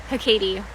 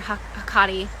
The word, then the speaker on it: Hecate: Hecate or Hecate. It depends. A lot of people say her name differently.